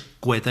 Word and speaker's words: Quetta: Creo que se pronuncia Quetta, sí.